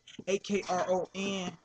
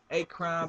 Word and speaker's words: Akron: AKRON. Some pronounce it Akron, but it's Akron, man.